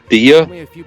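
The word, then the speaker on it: Dehya: But That's how you pronounce her name, Dia?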